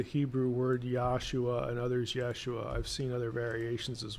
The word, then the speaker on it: Yeshua: and I really can't Yeshua is going to be the way the Hebrew word Yeshua meaning salvation or deliverance is pointed so the yeah pronunciation would would actually be more accurate why they put Yahshua